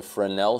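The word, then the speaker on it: Fresnel: is this is something called a frenel Shader It's spel s is silent because of uh frenchness so again it's cubic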